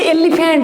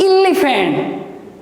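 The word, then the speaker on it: elephant: छुआ बेल समस्ते पढ़ी एलिफेंट एलिफेंट आमको शिखा जाइए बट it's right pronunciation is इलिफेंट तो जो इलिफेंट कहूचे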